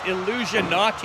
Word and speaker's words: Illusionati: It's Illusionati. Yes. Like Illuminati, but with an illusion.